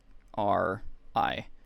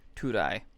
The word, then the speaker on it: Turai: It's with a rolled R. Turai. Turai.